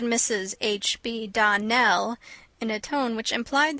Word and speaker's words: Donnell: you pronounced our name Donal now miss surely the correct pronunciation of our name is Donell Accent on the last syllable I hope you remember